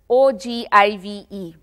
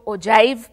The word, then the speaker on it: ogive: This graph is also called the OGIVE, O-G-I-V-E. Isko Western countries mein to OJIVE pronounce karte hain, lekin hamare haan OGIVE mustamil hai.